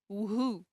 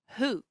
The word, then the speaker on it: who: And the W in who, we don't say who, no, it's who, okay?